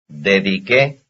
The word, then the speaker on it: dediqué: As far as stress is concerned, here are two words which belong to the same family, since their stress falls on the last syllable. Number 42. Empapó. Dediqué.